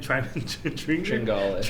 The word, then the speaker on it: Tringale: Tringale.